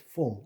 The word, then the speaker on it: full: 발음이 다른 거 앞에 단어 fool을 얘기하면은 바보다 그러는데 나는 많이 먹었다를 my stomach is full, I'm full.